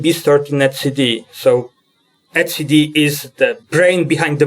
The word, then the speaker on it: etcd: you pronounce it cuz you cannot say etcd because it diminish the meaning of it it's not the product that Deb right it has to be at CD so yeah you can